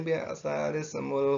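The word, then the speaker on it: بِئْسَ الِاسْمُ: wala tanabazu bil alqabi bi'sal ismul fusuqu ba'dal iman wa man lam yatub fa ulaika humuz zalimun. Jadi membacanya adalah bi'sa lismul fusuqu ba'dal iman.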